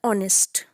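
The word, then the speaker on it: honest: लेकिन हम जब इस वर्ड को प्रोनाउंस कर रहे हैं तो एच साइलेंट है, तो हम इसको प्रोनाउंस करते हैं ऑनेस्ट। तो वॉवल साउंड है ऑनेस्ट, तो हमने उससे पहले लगाया है एन, ठीक है।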